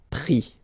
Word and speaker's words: pris: And then prendre, so ENDRE will give IS, pris, okay. Same thing here, you don't pronounce the final S, okay.